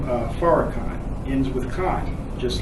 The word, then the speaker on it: Farrakhan: But the name Farrakhan has 3 syllables, and it ends with Khan.